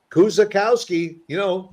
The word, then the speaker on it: Kuczykowski: If you just sound it out, Kuczykowski, that's it. Really, that's it. That is true. It's just the way it's spelled is the way you pronounce it.